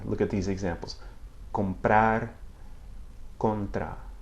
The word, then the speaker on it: comprar: Now, when it begins a syllable in a cluster with another consonant, such as B or P, okay, it has that same sound basically. Look at these examples. Comprar, contra. Comprar, contra.